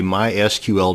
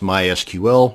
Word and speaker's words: MySQL: going to show you how to create a mysql database and yes it's pronounced mysql not mysql so the next time you're at